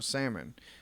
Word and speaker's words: salmon: Instead of using salmon, she used tuna fish.